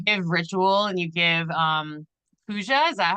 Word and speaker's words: puja: earlier, is you give ritual and you give puja. Is that how you say it? Yes, pujas, which is a Hindi word for prayer, but